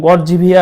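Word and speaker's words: Георгиева: গর্জিভিয়া, গর্ভিয়া, গড়, ওদের উচ্চারণ গর্জিভিয়া আর কি, গর্ভিয়া বা গর্জিভিয়া।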